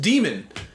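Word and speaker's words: dæmon: Well, maybe he shouldn't have put an A in Damon if he wanted it pronounced demon.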